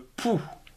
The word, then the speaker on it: pouls: s poids de 10 kg par exemple le pouls p o ul est ce un pouls de